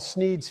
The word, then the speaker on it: Sneed: The shop is called Sneed's Feed and Seed, where feed and seed both end in the sound eed, thus rhyming with the name of the owner, Sneed.